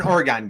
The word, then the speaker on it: Oregon: When you're a little guy growing up, now you're an Oregon guy. Is that correct? An Oregon guy, but Oregon.